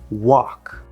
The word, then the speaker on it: walk: It is the word walk. a l is a common spelling pattern for the fifth vowel, just like a w.